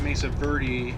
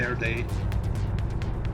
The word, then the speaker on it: Mesa Verde: the Mesa Verde National Park, and we do pronounce it Mesa Verde, even though in Spanish it would be Verde.